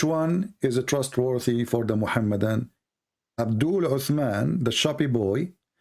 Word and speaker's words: Muhammad: I say Muhammad. Is that how you say? Muhammad, yes, Muhammad.